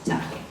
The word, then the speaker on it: CHARGE: Bueno, nosotros decimos charle, ¿vale? en inglés no se pronuncia así, pero como el inglés no es nuestra fuerte, pues nos vais a oír durante toda la charla que decimos charge.